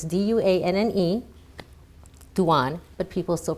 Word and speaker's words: Duanne: The grammatical rule of a double consonant after a vowel and an E at the end, it should make the vowel sound short.